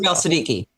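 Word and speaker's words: Siddiqi: Siddiqui.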